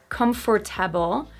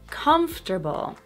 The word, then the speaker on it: comfortable: Not comfortable, but comfortable. Comfortable. The stress syllable is so strong that the one after it pretty much disappears.